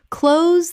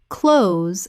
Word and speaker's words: close: Close the adjective, nearby. Close rhymes with dose. Close the verb, to shut. Close rhymes with those.